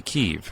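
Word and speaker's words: Kyiv: the side and we don't know how to spell it we barely you know now we know how to say keeve right a lot more than that a lot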